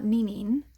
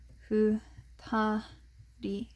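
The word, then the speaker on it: 二人: And then same thing here, 2 plus person makes not ninin usually, but futari.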